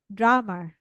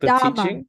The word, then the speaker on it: Dharma: I just found that I pronounced this one is uh, not right, not correct. Drama, Oh no, wait, no, it's like Dharma, the teaching or something, right?